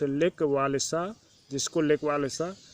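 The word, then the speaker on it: Lech Wałęsa: काम करने वाले, जिसका नाम लेक वालेसा था, प्रोनाउंस लेक वालेसा, जिसको लेक वालेसा भी कहते हैं, ज्वाइन द स्ट्राइकर्स, वह जो हड़तालियों में सम्मिलित हो गया।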